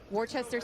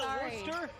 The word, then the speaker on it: Worcester: We couldn't get Worcester. Sorry, mom. You're right. It's It's It is not pronounced the way it's spelled.